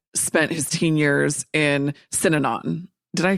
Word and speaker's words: Synanon: so your dad spent his teen years in synanon did i pronounce that correctly yeah you did that's it